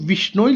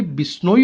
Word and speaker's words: बिश्नोई: अब थोड़ा सा बुक में चेंजेस हैं, यहाँ पर बुक में विश्नोई लिखा है जबकि ये बिश्नोई होता है, तो मैंने थोड़ा स्पेलिंग करेक्ट किया है।